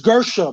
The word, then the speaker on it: Garcia: It's Gersha, Mikey Gersha.